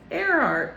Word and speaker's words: Earhart: It's spelt like Earhart, but it's like Amelia Earhart. And I pointed out that it's like Earhart, like air and then a heart, like I love air, and she was a pilot.